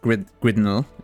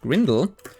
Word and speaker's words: Grindel: Still need to buy stuff from Grindel. Not Gridnel. That's tough to pronounce even with a typo like that. Grindel.